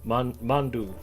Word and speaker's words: mandu: Thought you were saying Mountain Dew. Nope, mandu. For lack of Potato. better way to spell it, I'll just say it's mandu, as far as I know.